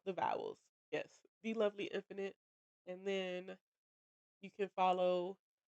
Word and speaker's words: The Lovely Infinite: That is The Lovely Infinite. That's how you say it. I know it's TheLvly Infinite, Infinite. But I've had some people be like the infinite, and it's like lovely. It's just the word lovely without the vowels.